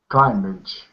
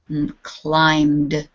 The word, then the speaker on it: climbed: this is voiced so how will we say this climage climbed climb clim clim try not to get the I sound in there just climbed climbed better better the um you don't really do anything when you get your mouth closed for the M sound you just end the M with a d climbed climbed good yes climb good